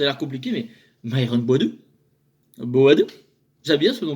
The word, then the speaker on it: Boadu: En plus, je prononce bien, regardez, ça a l'air compliqué, mais Myron Boadou.